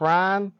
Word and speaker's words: Rhyne: people call me rind if you know how to pronounce that just hold out the Y and say rhyme and I promise you